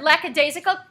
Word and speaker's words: lackadaisical: And then, oh, this is the next word, lackadaisical. Say lackadaisical. Lackadaisical. Okay, because it's hard to, people mispronounce it sometimes if you're just reading it.